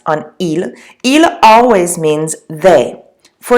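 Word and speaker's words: elles: my friends like oh Allah remember I don't pronounce the S on ela ela always means they for example jump a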